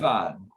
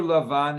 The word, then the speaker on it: Lavan: Lavan. In Hebrew, Lavan. In English, it could be Laban.